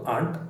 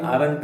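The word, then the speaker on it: aren't: plants ಆಂಟ್ growing ಆಗ್ತದೆ ಆರಂಟ್ ಆರಂಟ್ ಉಚ್ಚಾರ ಮಾಡೋದು ಆಂಟ್ ಆಂಟ್ ಆಯ್ತಾ ಸೋ ನೀವು ಮೊದಲಿಗೆ ಆರಂಟ್ ಅಂತ ಉಚ್ಚಾರ ಮಾಡಬಹುದು ಮಾಡಿ ಏನು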